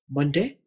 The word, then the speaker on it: Monday: इसको मोन नहीं पढ़ना या मून नहीं पढ़ना, ये मन है। आपने स्पेलिंग MONDAY याद रखने हैं। ये वाला स्पेलिंग आपको आवाज समझाने के लिए इस्तेमाल किए हैं। मंडे पीर का दिन।